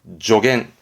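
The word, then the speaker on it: 助言: 발음은 조겐.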